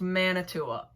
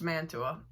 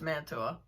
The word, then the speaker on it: Mantua: But there's also the phenomenon known as Manitoua. For some reason, there's a small group of people that decide to add an extra A into the word.